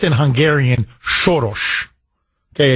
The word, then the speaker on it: Soros: John no look um it's okay it it's pronounced in Hungarian shos okay it's anglicized as Soros shos is a as anybody of Hungarian descent